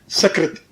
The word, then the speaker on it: सकृत: अब जैसे एक शब्द है संस्कृत में सकृत, सकृत शब्द है। अब सकृत का अर्थ होता है एक बार। सकृत जो है स से, दंती स से उच्चारण करो सकृत, तो उसका अर्थ होता है एक।